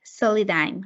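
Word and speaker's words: Solidigm: She is currently a listen to this is very interesting, semiconductor packing quality and reliability engineer at Soli-dime. I hope I'm pronouncing it correct.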